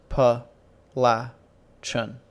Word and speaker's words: Appalachian: name of your school Appalachian uh pas la Chen with a short a ladies gentlemen what is